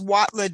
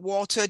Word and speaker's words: Watler: in correctly here um my name is watler w-a-t-l-e-r not Walter w-8-l-t-e-r it's w-a-t-l-e-r what's wrong with Walter pack I know you're the Walter on the board I'm the watler remember okay okay I